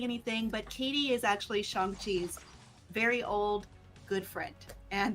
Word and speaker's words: Shang-Chi: Apparently it is Shang-Chi, so I'll make sure I get that correct.